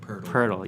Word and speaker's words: Jakob Poeltl: Okay, Nailed it saying it's like turtle, but with a P. Poeltl, Jakob Poeltl. I know, when you read it, you want to say Poeltl. Poeltl, yeah. So, Rudy Gay, Poeltl, DeRozan, former players on the Raptors.